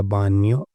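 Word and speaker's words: bagno: सकते हो वास्का दा बान्यो। वास का मतलब टब, दा बान्यो, बान्यो हो गया बाथरूम। तो उसका जो बा आधा जी है ये साइलेंट रहता है, सॉरी जी है जो साइलेंट रहता है।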